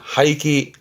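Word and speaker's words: 廃棄: 발음은 하이키. 하이기 못 쓰게 된 것을 버리는 거잖아요.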